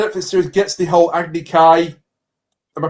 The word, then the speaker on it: Agni Kai: The fact that the Netflix series gets the whole Agni Kai, am I pronouncing that right? Yeah. Yeah, Agni Kai concept completely wrong.